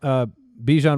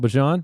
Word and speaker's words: Bijan: We found out Bijan Robinson wants to be called Bijan.